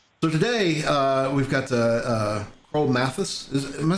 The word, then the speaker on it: Mathias: Yeah, Well, because of just the way how they emphasize on the syllables back home in India. But I know that MATH goes as math right. in US, so it's very common to hear Mathias.